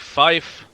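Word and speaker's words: five: 5 is said like fife. Like that.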